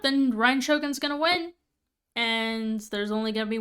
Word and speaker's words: Ei: Let's go hang out with Raiden Shogun, aka A. E-I, that's how you pronounce a name.